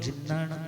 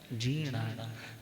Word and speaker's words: जीर्णाणं: जीर्णाणं का मतलब बहुत से लोग जिन्नाणं बोलते हैं। दिस इज इनकरेक्ट, ये सही नहीं है उच्चारण। सही उच्चारण कौन सा है? जीर्णाणं। मगर इसके साथ और राइमिंग में वर्ड है तिन्नाणं तार्याणं, तो वहां पर तिन्नाणं ही है, यहाँ पर जीर्णाणं है, जिन्नाणं नहीं।